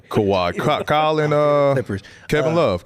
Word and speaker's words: Kawhi: Kyle. Not Kyle. What did I say his name? Kawhi.